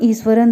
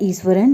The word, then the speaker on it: Iswaran: Actual में इनका नाम है ईश्वरन, लेकिन तमिल में जो एस होता है उसका प्रोनाउंसिएशन थोड़ा अलग तरीके से किया जाता है, that's why वी are calling ईश्वरन।